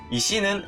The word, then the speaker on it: 石: 하는 단어에서는 샤크라고 읽히니까 이 시는 음독으로는 세키라고 읽히는 게 99%인데 샤크라고 읽히는 경우가 지샤크가 있구나 라고 하는 것 정도만 파악을 해두시면 됩니다. 예외처럼 생각을 해두시면 될 거예요. 그리고 훈독은 이시라고 읽습니다.